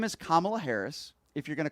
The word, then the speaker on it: Kamala: Her name is Kamala Harris. If you're going to call into this show, you're going to pronounce her name right.